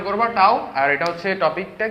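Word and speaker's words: τ: উচ্চারণ করবা টাও।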